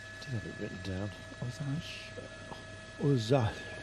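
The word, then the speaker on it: Ozalj: Ozal. The L and the J are almost not pronounced, apparently. Ozal.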